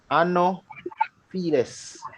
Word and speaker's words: Anopheles: All right, so it is spelled Anopheles. Anopheles. All right. Remember, PH is sound like F.